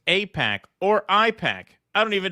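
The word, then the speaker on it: AIPAC: Apac.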